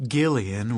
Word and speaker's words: Gillian: pure language, of which Gillian with a hard G was supposedly an example.